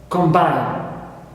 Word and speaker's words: combine: I distinguish between them the first one is stressed on the first syllable combined number one clear